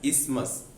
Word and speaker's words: isthmus: It is pronounced as isthmus.